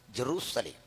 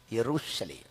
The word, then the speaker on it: യെറുശലേം: നമ്മുടെ വിശകലന വിഷയം ശ്രദ്ധിക്കണം എന്താണ് ഈ യെറുശലേം ഊർ എന്നും ശാലോം എന്നുമുള്ള രണ്ട് എബ്രായ പദങ്ങളുടെ സമന്വയം ഊർഷാലോം അതിന്റെ ഇംഗ്ലീഷ് ലിപ്യന്തരീകരണമാണ് ജെറുസലേം അതിനോട് ശരിയായി ചേർന്നു നിൽക്കുന്നത് മലയാളത്തിലെ നമ്മുടെ ഉച്ചാരണമാണ് എന്തെന്നാ യെറുശലേം സായിപ്പ് പറഞ്ഞല്ല ശരി നമ്മൾ പറഞ്ഞതാണ് ശരി മലയാളം ബൈബിൾ ആണ് ഇംഗ്ലീഷ്